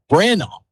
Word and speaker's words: Brandabaugh: And before we introduce you to, Brandaugh is the pronunciation of the Huron Tigers boys head coach today.